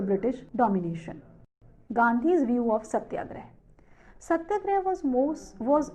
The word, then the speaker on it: Satyagraha: Satyagraha, pronounced Satyagraha, is a compound of 2 Sanskrit nouns, Satya meaning truth and Agraha meaning firm grasping.